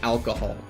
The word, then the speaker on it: alcohol: But I don't actually know how to say, like, the actual word alcohol. So, like, ¿cómo se dice alcohol? Alcohol? Delete the H. Alcohol.